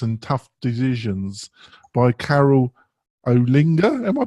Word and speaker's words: Olinga: I want to talk about this On Health, WordPress and Tough Decisions by Carol Olinga. Am I pronouncing that correctly? Yeah, Olinga.